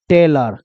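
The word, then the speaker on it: tailor: गया है, तो देखो टी आई एल से टेल हो जाएगा, आर का र हो जाएगा, ओ का उच्चारण अ ही में ले लिया। चूंकि आपको पता है र जोड़ अ बराबर क्या हो जाएगा? र। तो क्या बन जाएगा? टेलर।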